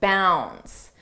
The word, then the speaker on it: bounds: Let's talk about leaps and bounds. Notice how bounds, the D is not pronounced. Bounds, bounds.